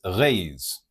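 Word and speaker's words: Reis: His name is was Arthur Vigilio Alves Reyes.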